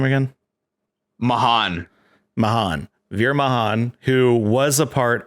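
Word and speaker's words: Mahaan: how do you say his last name again mahan mahan who was a part of oh gosh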